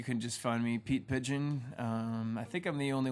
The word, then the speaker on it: Pidgeon: Yeah, you can just find me, Pete Pidgeon. I think I'm the only one holding a guitar, if you're looking for me. Just search for my name. Pidgeon is spelled P-I-D-G-E-O-N, contrary to the bird's spelling.